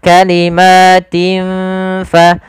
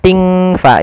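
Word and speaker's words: كَلِمَاتٍ: Cara membacanya adalah kita samarkan huruf tin ya kepada huruf ta, seakan-akan kita langsung menghurufkan huruf fa. Maka kalimatin fa, kalimatin tin fa, bukan ting fa, jangan ang.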